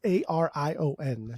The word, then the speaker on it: Arion: to say his name it's a r i o n sound like a Pokemon man I would say